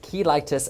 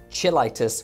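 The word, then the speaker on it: cheilitis: And yes, that's pronounced keitis and not chilitis, which is the medical term for spending a whole weekend doing nothing but chilling.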